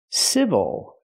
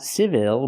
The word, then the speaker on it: civil: and this word is civil not civil but civil again the stress is on the first syllable so the second syllable is not stressed we cannot say ill